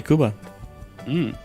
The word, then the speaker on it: Cuba: bu B and Cuban Roxana a kubano de Kuba oh hi Mark boring they Cuba yeah usually